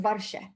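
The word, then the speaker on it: ווארשע: edish ah great question warsaw is varsha thanks for asking yeah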